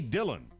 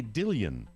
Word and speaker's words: Dillion: It turned out it was 28-year-old Amy Dillon. I'm sorry, I pronounced that incorrectly. It's Amy Dillion.